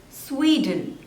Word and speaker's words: Sweden: Next is Sweden. Sweden. There are 2 syllables and the stress is on the first one.